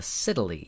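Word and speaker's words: scytale: this thing called a Cy yes it rhymes with Italy uh it is a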